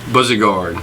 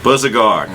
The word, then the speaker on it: Bouzigard: Can you pronounce the last name? I don't want to mess it up. Bouzigard. Bouzigard.